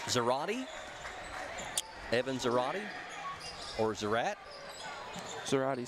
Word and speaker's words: Zarate: Well, when you see it is spelled Z-A-R-A-T-E, that is like karate. So I want to say Zarate.